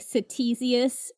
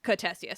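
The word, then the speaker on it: Ctesias: I think I said it like Satisius. Okay. But that is how it's spelled right. It's like CT. Okay, great. It's a c i a s. So that is we 100% pronounced it wrong in our episode on this. Right. In Greek that would be cessia.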